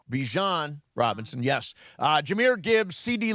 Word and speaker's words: Bijan: Bijan Robinson, yes.